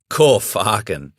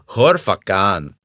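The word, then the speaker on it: Khor Fakkan: It's not farken. It's actually Horfakan.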